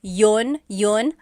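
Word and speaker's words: iyon: You might hear me saying yun yun as if there's no I and that's commonly how it's pronounced.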